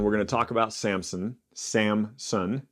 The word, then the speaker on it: Samson: kind of was like wait there's no P there and I had pronounced it with a p forever and so anyway Samson Judes 13-16 this will